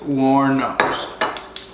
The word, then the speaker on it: Wuornos: Wuornos. Yes. It's spelled weird, but that's how you pronounce it. Wuornos.